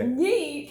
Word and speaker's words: yeet: And you go like yite. Is it yite? Yite. But it's pronounced yeet. But when you say it, when you're actually throwing something, yite.